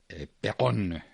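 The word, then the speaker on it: Péronne: Perón, se escribe Peronne.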